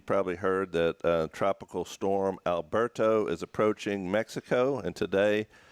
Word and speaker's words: Alberto: He's like, "It's not Alberto." He's like, "It's Alberto."